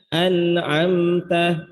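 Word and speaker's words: أنعمت: Bukan anamta alaihim, bukan. Pelan-pelan, an'amta. Kalaupun cepat tetap jelasin bunyi hanya, nunnya, ainnya, minnya. An'amta alaihim, an'amta alaihim, an'amta alaihim. Jangan sampai ketika terburu-buru bacanya jadi hilang huruf ainnya, bahkan merubah yang mati sukun jadi hidup berharokat.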